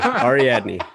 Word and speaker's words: Ariadne: do it it is oh ariadne yeah i had to write it out phonetically this took me a couple minutes of preparation before going ari adney she's kind of our character in to the